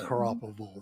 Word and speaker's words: Garoppolo: I think that they're going to end up, they got, I can't pronounce the name, the quarterback's name. Garoppolo, yeah. Garoppolo.